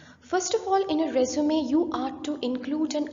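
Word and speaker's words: résumé: an applicant's details to procure a job resume pronounced as resume there's a difference even if it's the S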